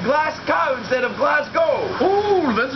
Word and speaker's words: Glasgow: How do you say Glasgow?